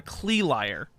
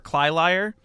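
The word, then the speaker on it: Cli Liar: find what's called a Clee Liar. I did find a what? It's called a Clee Liar or a Cly Liar. It's very expensive. How do you spell it? CLI and then space liar.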